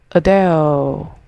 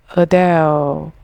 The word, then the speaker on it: Adele: The correct pronunciation for this word is Adele. Break it down like this. A soft starting sound. Adele. Rhymes with bell. Put it together. Adele.